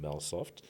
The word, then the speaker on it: Melsoft: And for today, we are joined by Larreth Jimu, who is an entrepreneur and also a co-founder of a platform called Melsoft. Have I pronounced that correctly?